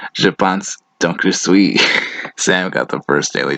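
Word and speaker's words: Je pense, donc je suis: Descartes wrote, "Je pense donc je suis." It's pronounced, "Je pense donc je suis."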